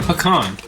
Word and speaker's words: pecan: Honey pecan pecan, because we have to say pecan and pecan,